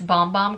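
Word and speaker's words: Bom Bom: And it's actually not Bum Bum cream, it's Bomb Bomb cream.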